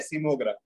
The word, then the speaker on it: seismogram: Sir, I know the tool, but I don't know the pronunciation of that. Okay. I'll say it. It's called as a seismogram.